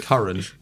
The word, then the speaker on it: Karan: It's not how it's said. It's spelt very differently, but put it here. That's Karan. Not Like the currency. Like currency. Yeah, you say it like currency.